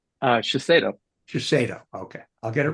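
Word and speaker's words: Shiseido: here Michael is VP Global total rewards for shashido did I pronounce that correctly uh shaso Cho okay I'll get it right the second time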